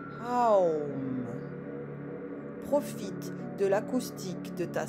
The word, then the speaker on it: Om: reviens au centre, puis place de nouveau les mains sous le front pour faire résonner 3 fois le son Om, que tu prononceras Aum.